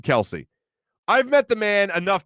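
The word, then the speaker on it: Kelce: Some people are saying Jason Kelsey or Jason Kels. Yeah, it's Jason Kelsey.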